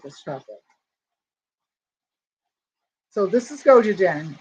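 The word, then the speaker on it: gochujang: i gotta take this chocolate so this is goji jen it's g-o-c-h-u-j-a-n-g go to jain okay and i heard somebody pronounce it that's why i know how to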